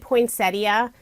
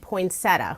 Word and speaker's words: poinsettia: I pronounce it poinsettia, other people pronounce it poinsettia without the ia on the end.